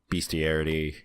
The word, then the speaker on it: bestiary: whatever I would go into the bestiary is how you say that word I've never so you said bestiality that - I got a